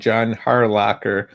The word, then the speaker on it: John Harlocker: Um, I have an editor friend, John Harlocker, and that's the right pronunciation of his name because I asked several times.